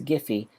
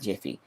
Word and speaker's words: Giphy: of what that stands for and how you pronounce it so it's a gif and this is giphy not jiffy jeff is peanut butter and i'm done okay